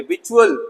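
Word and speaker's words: victuals: विचुअल, यहाँ भी सी साइलेंट है। विचुअल मत पढ़िएगा, इट्स विचुअल, खाद्य सामग्री, खाने पीने की चीजें।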